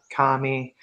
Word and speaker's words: Karmi: Is it Karma? Karmi? It's kind of like caramel, but without the L. It is a pleasure to make your acquaintance, Minerva Karmi Bonifatius.